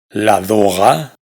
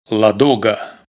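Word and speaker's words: Ладога: Esto que es el nombre de un famoso lago, no se pronuncia la doga, sino la duga.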